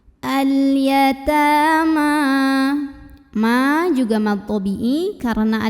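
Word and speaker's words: الْيَتَامَىٰ: Ta mad asli atau mad tabi'i karena ada baris fathah tegak di atas huruf ta. Cara membacanya dipanjangkan 2 harokat. Al-yatama.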